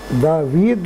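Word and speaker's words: ⲆⲀⲨⲒⲆ: يعني ديت دافيد، تتنطق دافيد ومعناها داوود، اسم علم، اسم داوود. وهنلاحظ هنا ان حرف الابسلون اتنطق زي الفي، عشان احنا عندنا حرف الابسلون لو جه بعد الفا او بعد اي بيتنطق زي الفي، يبقى دافيد.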